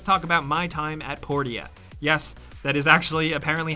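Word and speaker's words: Portia: number 9 let's talk about my time at port yet yes that is actually apparently how it is pronounced we made sure the elevator pitch for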